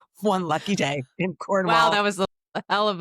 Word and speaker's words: Cornwall: lives in Cornwall, and to bring that second syllable down into the deep recesses of your throat so you hardly say it. You sort of mumble it out.